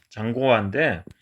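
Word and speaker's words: 张国华: 사령관이고 행정관, 공산당 당서기인 장국화 장군, 중국 발음으로는 장고화인데, 이 장군의 실제 이 장군이 목격한 사실입니다.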